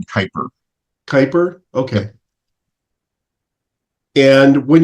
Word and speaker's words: Kuiper: The new she one pronounces her last name Kuiper.